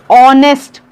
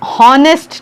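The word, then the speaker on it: honest: ये ऑनेस्ट है, ऑनेस्ट अ, या हॉनेस्ट नहीं है।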